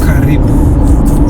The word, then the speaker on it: karibu: It's only now word uh welcome which is pronounced as karibu.